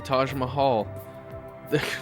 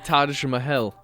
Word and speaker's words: Taj Mahal: oh there it is the Taj Mahal I just said it wrong the Taj mahel now does anybody remember